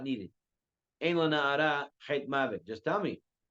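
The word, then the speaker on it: לנערה: It says on the pasuk, "V'lena'ar," and it's pronounced "lena'ara."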